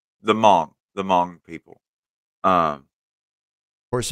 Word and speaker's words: Hmong: the Mong yeah the h m o n g yeah you don't you don't actually pronounce the h though it's just m right the Mong the Mong people um